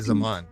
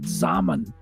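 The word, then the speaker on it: Xaman: It's literally Zaman.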